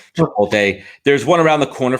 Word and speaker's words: Chipotle: Chipotle? Some people call it Chipotle, Chipotle. I get made fun of because I think I do it with the L silent.